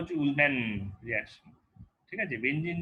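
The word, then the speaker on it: Ullmann: এছাড়া আরেকখানা রিয়াকশন আছে যেখানে যেটা খালি অ্যারোমেটিকই করতে পারে, রিয়াকশনটা হচ্ছে উলম্যান রিয়াকশন, রাদারদের উচ্চারণ হচ্ছে উলম্যান রিয়াকশন, ঠিক আছে।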